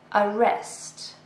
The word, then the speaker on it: arrest: Arrest. So this is a verb. It has 2 syllables and we stress the second one.